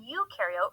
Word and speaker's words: eukaryote: like to remember that pro in prokaryote rhymes with no, and eu in eukaryote rhymes with do.